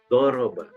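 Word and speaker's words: ضرب: Contoh, kita menulis doroba. Membaca doroba menggunakan dha, tapi kita membacanya pakai daroba, menggunakan dal. Doroba tapi menggunakan dal, maka sudah berubah artinya. Doroba di sini adalah artinya memukul. Kalau menggunakan daroba menjadi artinya melatih.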